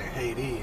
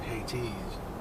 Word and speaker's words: Hades: I didn't say Hades, I said Hades.